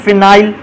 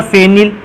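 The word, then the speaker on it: phenyl: इस ग्रुप को कहते हैं मेथाइल, इस ग्रुप को कहते हैं फिनाइल या फेनिल। मैंने बोला था कि आप उच्चारण में इसको फेनिल या फिनाइल बोल सकते हो।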